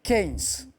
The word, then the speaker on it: Keynes: Keynes? Vous m'avez dit? Keynes? Ah, oui, alors la prononciation c'est Keynes. Mais c'est la bonne réponse.